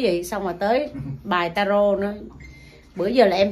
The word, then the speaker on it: tarot: Tại chữ đó là rốt ta là đọc tarot. Nhưng mà đọc đúng là tarot.